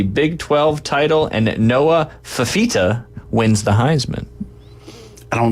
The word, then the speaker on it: Fifita: So Noah Fafita? If I pronounce that right. Fifita. It's F-I-F-I-T-A.